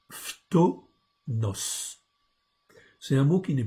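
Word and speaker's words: φθόνος: Donc, le mot, c'est le mot tomos, je vous l'agrandis. Donc c'est un mot grec. Ok, donc on prononce phtonos.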